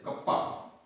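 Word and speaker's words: kappa: Hair यहां पर कप्पा, इसको अपन बोलते हैं कप्पा, इसको इट is pronounced as कप्पा, that is संपीड़ितता गुणांक, संपीड़ितता गुणांक।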